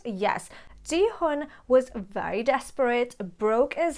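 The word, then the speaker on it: Gi-hun: being played out by the main character called ji hun am i pronouncing it right yes jihoon was very desperate broke as hell as we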